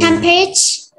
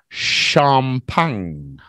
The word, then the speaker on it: champagne: Tempage? What? Tempage? Yeah, that's what it is. A what? Well, it's a French word. Breakfast. So it's pronounced a little bit different. In French, it's champagne.